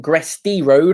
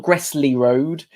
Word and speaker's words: Gresty Road: Gresty Road, not Gressley Road, which I've been saying it wrong for quite some time. But it's Gresty Road, live from Cheshire here on Fournilwrittenalloverit.